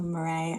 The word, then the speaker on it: Marais: So, Marray, I hope I'm pronouncing your name right.